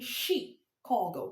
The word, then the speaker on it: Chicago: I'm saying Chicago because the word is a French word and it makes the CH even to take up a French means of being pronounced, French pronunciation, which because in French, you can't see anything like ch in French. When the CH you sound ch in the general English word, it sounds sh.